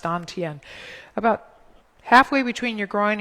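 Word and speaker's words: dantian: chinese call it the don tien it's spelled tantian but it's pronounced don tien about halfway between your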